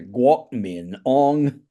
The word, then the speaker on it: Kuomintang: So You know, so the Hoisan pronunciation is a guok min ong.